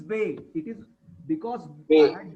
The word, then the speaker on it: ve: And the name of the letter V, it is Bay.